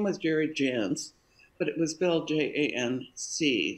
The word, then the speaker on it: Jance: and bought a vowel we paid 400 bucks for that e on the end of our name 83 so people would